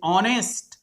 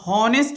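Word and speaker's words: honest: एच से ऑनेस्ट, ध्यान देना है यहाँ हॉनेस्ट नहीं पढ़ना है, ऑनेस्ट पढ़ना है। एच यहाँ साइलेंट हो जाएगा।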